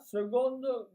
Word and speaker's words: seconde: Le 8 mai, c'est l'armistice de la Seconde Guerre mondiale. Écoutez, comme je dis, seconde, mais ça s'écrit avec un C, vous le regarderez.